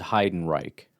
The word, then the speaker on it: Heidenreich: Hiden Reich. That does include, by the way, the pronunciation guide, which apparently is Hiden Reich.